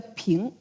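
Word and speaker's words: 瓶: peace in Chinese because Chinese word for wes sounds exactly the word for peace. They all pronounced the ping.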